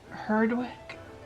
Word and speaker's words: Herdwick: eider falkland finnish gotland herdwick i don't know i don't think i've ever spun that before is it also is it hurting like smithics you don't pronounce the w someone from the uk